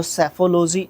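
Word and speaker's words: psephology: एंसटिटाइट को बोलते हैं सेफोलॉजी जब भी पी के बाद एस आएगा उसमें पी को प्रोनाउंस नहीं करते हैं तो सेफोलॉजी इसको बोलते हैं एल ओजी वाई एंडिंग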